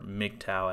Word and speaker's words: MGTOW: may be more dangerous physically to women but mgtow or mgtow as it's pronounced can have some very detrimental societal consequences